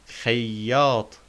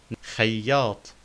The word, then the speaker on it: خياط: We notice the shadda on ya, so we say إي خياط. خياط. And we notice the ta in خياط takes the main form because the previous letter is Alif.